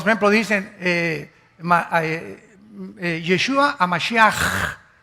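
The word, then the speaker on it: משיח: Todos, por ejemplo, dicen Yeshua a Mashiach. O sea, Jesús el Mesías. Se escribe Mashiach. Jesús el Mesías en el hebreo. Pero se pronuncia la CH.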